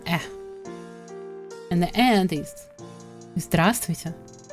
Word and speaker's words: здравствуйте: And the end is здравствуйте.